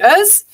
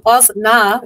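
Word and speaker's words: Öznur: And it's actually Oz. Oz means pure, so pure light. And that's the correct way. But the reason why it's Oznur is because it's very hard for people to pronounce Oznur. And they don't get that the O with the two dots on top actually means in Turkish. So when you read it in English, it does come across as Oznur.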